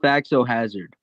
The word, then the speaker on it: Faxo Hazard: Fox is it just Fox or is it It's pronounced Faxo Hazard.